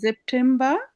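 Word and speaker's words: September: এরপরে আমরা বলছিলাম এস এর পরে ভাওয়েল থাকলে জয়ের মতো উচ্চারণ, তাহলে সেপ্টেম্বর। আবার ব্রিটিশ যারা আইএলটিএস এর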